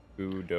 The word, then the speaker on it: Kudosia: I was thinking of ambrosia for the inspiration of it. That's why I was using that pronunciation.